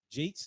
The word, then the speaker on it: J8S: That's how you pronounce that. Jake's, yeah.